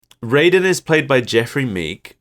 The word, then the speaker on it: Raiden: the narrator is Raiden I always want to say Ryden because that's how it should be pronounced but it never is Raiden is played by Jeffrey